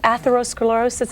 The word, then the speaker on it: atherosclerosis: Well, how does atherosclerosis is that the way you pronounce it? Yes, it is.